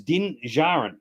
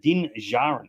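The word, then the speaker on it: Din Djarin: bit more specific now din Jaron so there's no D in the pronunciation and and the other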